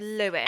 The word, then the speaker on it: Luis: Do I keep calling him Louis? I feel like I keep saying Louis because it's spelled Luis. I think you're among many people that call him Louis. Right, we need to go for Lewis. Everybody is Lewis.